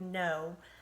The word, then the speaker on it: know: has a digraph KN the K is silent so then this has aw snow o at the end so if you can remember that there's a K there you can do that word know and remember that's got